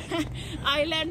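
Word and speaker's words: Island: तो पढ़ लो adventure आइसलैंड अब यहां पे आए हैं आईलैंड है बेबी ए साइलेंट है अच्छा नहीं हम आइसलैंड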